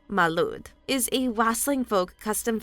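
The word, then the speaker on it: Mari Lwyd: The rap-battling horse skull of South Wales, the Mary Lod, Welsh pronunciation Malud, is a wassailing folk custom found in South Wales.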